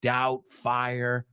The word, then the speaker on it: Doubtfire: Doubtfire. Who doesn't love this movie? Mrs. Doubtfire. I doubt there's anybody here who hates this movie. I doubt. Okay. La B no se pronuncia. No es Doubtfire.